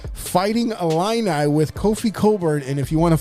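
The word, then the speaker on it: Cockburn: Fighting Illini with Kofi Coburn. And if you want a fun thing to do on a Sunday afternoon, go ahead and Google his name because it doesn't sound the way it's spelled.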